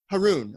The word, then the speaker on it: Harun: Harun, I'm sorry.